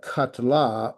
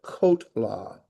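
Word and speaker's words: קָטְלָה: silent shav uh so that is not uh katla but kotla that is kotla so it's pronounced the same way uh well not really that would be kato this is kot law uh because that is a kame tatu um yeah okay so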